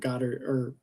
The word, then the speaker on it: Goddard: I love how Weir blended that in, and I think Goddard, did I say his name right? Drew Goddard? Yeah, Drew Goddard.